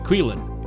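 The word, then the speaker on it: Qilin: It's pronounced Quilin is the Chinese name.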